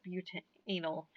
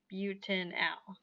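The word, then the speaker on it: butanal: al butanelle and so when you pronounce this you have to enunciate but and now i know it looks like anal but please do not pronounce pronounce it as bute anal um it's butanol right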